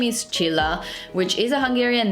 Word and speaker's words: Csilla: description, my name is Csilla, which is a Hungarian name, surprise, surprise. And the most I can help you with pronouncing it is that it's like the end of chinchilla, so that's basically how you need to pronounce it.